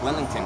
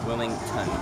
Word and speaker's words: Wilmington: So it's Wellington that's next, right? Just want to make sure I'm saying it right. Wilmington, yeah, with a T.